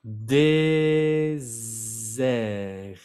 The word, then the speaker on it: désert: Luego tenemos la palabra désert. ¿Escucharon el z? Désert. Es como el desierto. Cuando hay una sola S adentro de la palabra, se pronuncia z, désert.